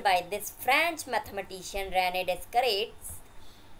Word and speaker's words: Descartes: So it is the method of describing the location of points in this way was proposed by this French mathematician René Descartes, pronounced as Cart.